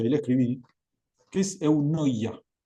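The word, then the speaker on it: eunoia: Hay una palabra hermosa en el en el idioma griego que ahí la escribí, que es eunoya. Un poco difícil de pronunciar para nosotros, ¿viste? E noia es como Pero eunoya significa actuar con bondad.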